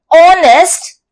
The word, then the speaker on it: honest: adjective and as here the alphabet H is silent and when we say the word honest it sounds as o so we use an